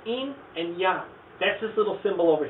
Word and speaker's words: yin yang: this one it's called in and young that's this little symbol over here notice i didn't call it yin yang that's kind of the english anglicization of this pronunciation in young something you're very probably